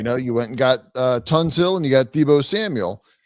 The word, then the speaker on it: Tunsil: You keep calling him Tunsil. I can't let you keep going on like this. I said Tunsil. You said Tonsil. No. If I did, I just mispronounced it. I know his name.